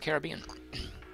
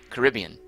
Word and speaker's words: Caribbean: Richard Holt says, "Only Americans say it like I said it. Now I forget how I say it. Caribbean. Caribbean, right. He seems to imply the rest of the world says Caribbean.